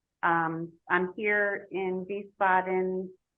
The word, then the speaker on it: Wiesbaden: in a city called Wiesbaden starts with a w but they pronounce it like a V so thank you Germany